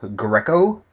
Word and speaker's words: Greco: there um most settings have occurred around Cape Greco as it's pronounced uh it's pronounced with a g r